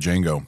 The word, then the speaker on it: Django: Well, I mean, Tarantino does the same thing with Django because that's actually based on a Western also. Yeah. But it was the D is silent.